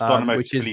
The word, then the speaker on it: Tbilisi: I'm going with that pronunciation. It's Tbilisi, yeah.